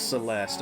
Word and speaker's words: Celeste: Celeste. It looks like it should be pronounced the least, like with the e at the end, but it's Celeste.